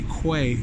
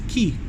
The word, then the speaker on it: Quay: key see a lot of people would say quay but it's spelt pronounced key oh we can go to the big easy